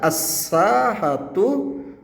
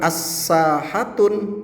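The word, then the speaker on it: الساحة: uh bukan pun lagi jadi kita baca assahatu punah ya Jadi bukan as sahatun salah tetapi assahatu punah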